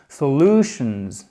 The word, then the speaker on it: solutions: prononciation claire en anglais, quand le mot se termine en tion, l'accent tonique, il est sur la syllabe précédente.